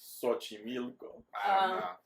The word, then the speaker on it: Xochimilco: The correct pronunciation for the first one was Teotihuacan. And the next one is Xochimilco.